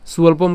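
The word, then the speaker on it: স্বল্পম্: এরপর সুয়ল্পম কেন এখানে আমাদের কি আছে? অন্তস্থ ব আছে, যার উচ্চারণ কার মতো হবে? উয়োর মতো হবে।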